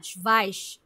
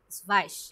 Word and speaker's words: Schweiz: না, স্ভাইস, স্ভাইস Schweiz.